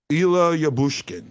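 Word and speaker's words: Ilya Lyubushkin: so it it does give you the uh pronunciation and some of the guys might be able to hear this ila yabushkin there we go so um some of you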